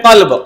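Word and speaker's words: قلب: जैसे एक वर्ड है अरबी में कल्ब। कलब कौफ से कल। कल्ब मींस क्या है? हार्ट दिल। और एक वर्ड है कलब। कल्ब मतलब क्या है? कुत्ता गौत। तो अगर कल्ब की जगह हमने कल्ब कर दिया या कल्ब की जगह अगर हमने कल्ब कर दिया मीनिंग चेंज नमाज़ नहीं होगी हमारी।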